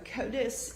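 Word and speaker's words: CODIS: So, Kotus is an acronym that stands for the combined DNA indexing system.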